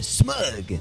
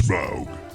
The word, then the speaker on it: Smaug: And I call this one smug. Rhymes with Grug. It's Smaug.